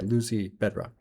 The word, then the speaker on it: Lucy Bedroque: So that's why okay, Lucy Bedroque.